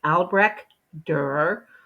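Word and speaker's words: Albrecht Dürer: spelling of his name his name is both hard to spell and hard to pronounce it's alre dur um and there should be the two dots over the U and I didn't put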